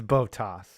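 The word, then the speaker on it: Bottas: as botas that's right it is botas valtteri botox boat ass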